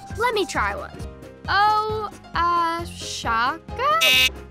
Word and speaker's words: Oaxaca: Oshaka? Oaxaca? Oaxaca. And that's spelled with an O.